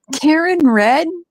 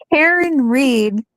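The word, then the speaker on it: Karen Read: years a year but Karen red is Karen Reed Karen Reed why did I say red Karen Reed because it's spelled re a right yeah it is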